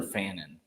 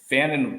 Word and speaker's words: Fannon: from Penn State and how do you pronounce Harold is it fine or Fannon I think it's fan okay I think it's Fannon yeah so Tyler Warren